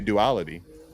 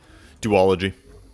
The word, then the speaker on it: duology: it's going to be a duality is how you say it duology do all of you